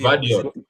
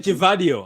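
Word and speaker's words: Gvardiol: Vardio. Vardio. Oh, Vadio. Vardio. I keep saying Givadio. I keep saying The G Givadio. silent, Guardiola.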